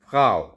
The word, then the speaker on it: Frau: So wife is called फ्राउ। फ्राउ, it's written like this F-R-A-U, but R-A, like I told you, it's pronounced as G.